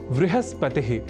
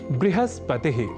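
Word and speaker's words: बृहस्पतिः: दिला रहे हैं कि कुछ ऐसे भी शब्द हैं जहां व और ब इन दोनों ही अक्षरों के बीच अभेद है। इस स्वीकृति के साथ कई शब्द हमें संस्कृत साहित्य में प्राप्त होते हैं। जैसे आपको याद ही होगा वृहस्पतिह या बृहस्पतिह वृहत या बृहत वह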